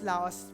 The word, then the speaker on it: Laos: the country of Lao that's Laos but we will pronounce it as Lao okay that's that's how they pronounce it before we pray